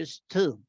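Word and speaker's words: used to: US to es que en general no se pronuncia la d o sea en presente y en pasado se dice lo mismo se dice I use en presente y en pasado I use to porque el Us to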